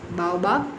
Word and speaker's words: baobab: Baobab tree. Okay, baobab, you should pronounce it.